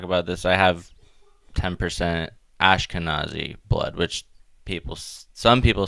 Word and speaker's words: Ashkenazi: your thoughts on the Ashkenazi thing yes the word I always mispronounce ashkana Z not V I always pronounce it with a V but uh basically they're